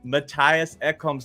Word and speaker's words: Mattias Ekholm: And I went and I found the right pronunciation of Mattias Ekholm's name. So how do you say it, Mr. Predator fan of 1998? Unlike Soupy, it is a T.